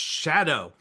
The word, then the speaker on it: Szado: Today I want to welcome Chris Shadow. And it's not spelled like it sounds. It's a wild name. SZ A D pronounced Shadow.